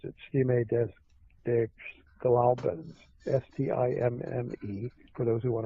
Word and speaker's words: Stimme des Glaubens: German magazine, and I'm going to try to pronounce it, Stimme des Glaubens, S-T-I-M-M-E, for those who want to research it. D-E-S is the next word, G-L-A-U-B-E-N-S, Stimme des Glaubens, reported in this German magazine the discussion between